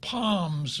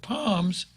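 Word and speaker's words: Pomes: Next on my card, I've got Paul Poms versus Doug. P-O-M-E-S. I would pronounce it Palms if I were in Aussie.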